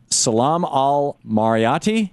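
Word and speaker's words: Salam Al-Marayati: And Salam Al-Marayti, am I pronouncing that right, Salam?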